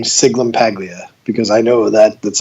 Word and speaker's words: Sciglimpaglia: everyone's wondering when you say my name is sigmund Paglia because I know that that's like a really